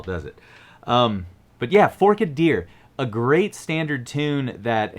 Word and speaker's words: Forked Deer: the classic fiddle tune forkid deer and yes that is exactly how you pronounce it not forked that doesn't quite roll off the tongue as well does it um but yeah fork a deer a great standard tune